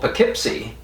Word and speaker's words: Poughkeepsie: new york that's called poughkeepsie and the ough is the uh sound and there's also a